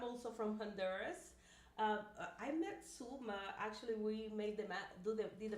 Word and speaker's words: Sulma: And I am Sulma, so you kind of pronounce it. Sulma. Perfect. I was going to say like tool, but Sulma.